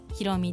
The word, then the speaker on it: 洸美: イターのひろみです。山水に光る美しいと書いてひろみと読みます。